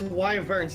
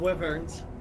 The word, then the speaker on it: wyvern: It's wyverns, not wyverns. Like, the Y is pronounced like O, or as Y, not the I sound.